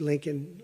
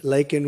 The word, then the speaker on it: Laken: lakan Riley you know Laken very well now and after months of prodding him Biden couldn't pronounce her name he said uh he said Lincoln Lincoln Riley and Lincoln Riley